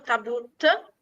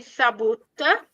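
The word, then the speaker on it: تابوت: Allora, in arabo tabut, che sarebbe sabut, la pronuncia corretta, significa cassa mortuaria, para, il nostro tabuto siciliano.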